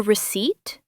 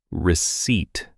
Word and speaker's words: receipt: Or sometimes they say, do you need a receipt? Oh, that is a hard word. Receipt. It sounds tricky. Receipt. The P is silent.